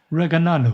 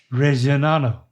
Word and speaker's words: Reggiano: Parmigiano Reggiano. Nope. Same thing with those G's. Parmigiano Reggiano.